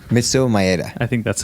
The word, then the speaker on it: Maeda: And Elio Gracie did not train jiu-jitsu while Master Carlos was training jiu-jitsu, learning it from Matsuhu Madea, if that's how you pronounce his name.